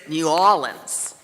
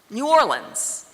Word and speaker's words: New Orleans: There is New Orleans, New Orleans, New Orleans. Some people give 3 syllables to the second part, New Orleans, which actually comes pretty close to the way the French say the name of our city, La Nouvelle-Orléans.